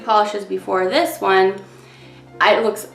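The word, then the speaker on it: Pahlish: but I have a review from the brand Polish. It's spelled P-A-H-L-I-S-H.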